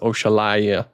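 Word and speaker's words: Oxalaia: People don't like how I pronounce it either, but I think I'm pronouncing it the correct way because it's based off of the African deity known as Oshala.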